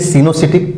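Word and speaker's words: coenocytic: से अधिक हो दो से अधिक हो उसे सीनो सिटिक या साइट सीनो सिटिक स्पेलिंग हो जाएगा सीनो सिटिक का सी ओ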